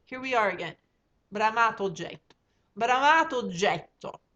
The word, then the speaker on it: oggetto: And now oggetto has two G's and two T's. Oggetto. In Italian, we pronounce, if there's two of them, we pronounce two of them. If there's three of them, we pronounce three of them.